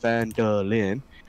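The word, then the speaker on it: Phandalin: and the nearby human town of findland pronounced vandalin uh prospered as well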